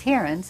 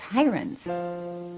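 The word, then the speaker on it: Heirens: was so heavily publicized somebody decided that the pronunciation was hearings and it just caught on when I came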